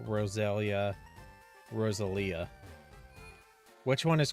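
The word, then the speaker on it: Roselia: It's not Rosalia, it's Rosalia.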